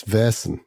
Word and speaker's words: Vaesen: I think it's Vers. Vers. So, we're playing Vers. That's what the Swedish types say, which I think we all know is a d6 system.